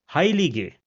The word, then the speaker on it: heilige: vowel, then it is pronounced as it is pronounced in English. For example, ruhige, which means peaceful, ruhige, or heilige, which means holy.